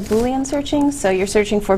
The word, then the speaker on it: Boolean: Yeah, well, you can kind of do like Boolean searching.